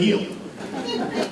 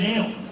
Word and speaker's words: Hale: and he's never once pronounced his last name correctly. He always calls him Sid Heel. Well, it's clearly Sid Hale, but not for Tim.